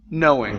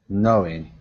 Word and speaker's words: knowing: Right here, the K on knowing is silent. So instead of saying knowing, okay, this K at the very beginning, we do not pronounce it. Knowing. Okay. Knowing.